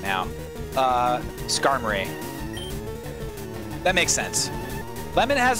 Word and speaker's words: Skarmory: it is uh also it's definitely supposed to rhyme with armory right or in my whack right now uh skarmory that makes sense lemon